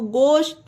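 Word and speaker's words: ghost: नहीं होगा ऑनर होगा उसी तरह जी एच ओ एच टी एच के बाद ओ आया तो गोस्ट मींस भूत ठीक है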